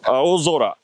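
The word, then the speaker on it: 青空: How do you say this? You say, aozora.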